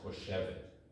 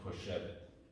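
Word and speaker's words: חושבת: And that's pronounced choshevet. So you've got choshev and choshevet.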